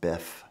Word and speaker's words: BIFF: What's a biff? Oh, it's like BFF, but spoken out loud, it's pronounced biff.